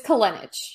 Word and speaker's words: Kolenich: All right, ladies and gentlemen, Kolenich. Is that how you say your last name? Very close. It's Kolenich. Kolenich. Okay. No, I have a similar challenge. The problem is when people mispronounce my last name, it can sound lewd very easily.